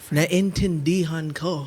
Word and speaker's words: naintindihan ko: The Filipino word of the day, phrase of the day is naintindihan ko. Whoa. Naintindihan Lots of syllables. ko. Okay. Oh, okay. Naintindihan ko. Tindihin. Nain Nain. tindihan Tindihan. ko.